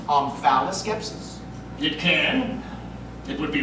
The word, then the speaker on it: omphaloskepsis: Can that also be pronounced omphaloskepsis? It can. It would be wrong. Omphaloskepsis.